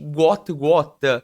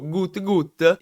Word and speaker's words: Gout Gout: protagonista, che in realtà doveva chiamarsi Gwot Gwot, poiché questa è la pronuncia corretta che arriva dalle sue origini del Sud Sudan, ma il tizio all'anagrafe ha sbagliato, ha scritto Gut Gut e poi successivamente anche